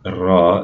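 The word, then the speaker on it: راء: The ra has a ra sound, and that ra is like a rolled R.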